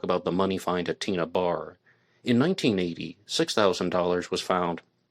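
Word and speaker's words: Tena Bar: She is first referring to it as Tennabar, but everybody calls it Tina Bar, no matter which way it's spelled.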